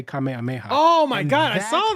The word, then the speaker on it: kamehameha: there's videos out there people butchering kamehameha they're saying like mommy like this is legit come on come on come on there's something something there's videos out there go youtube it of people pronouncing the name wrong even though the intro video of that when you get the the goku the goku patch is him doing a kamehameha and saying kamehameha so why are people getting